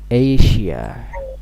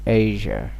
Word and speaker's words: Asia: This is not Asia. It is not correct pronunciation. The correct pronunciation will be Asia.